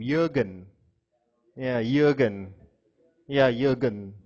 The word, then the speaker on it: Jurgen: Jurgen. Jurgen. J-U-R-G-E-N. Sounds like a German name. Jurgen. Yeah, Jurgen. Yeah, Jurgen. That's a German way of pronouncing it, Jurgen.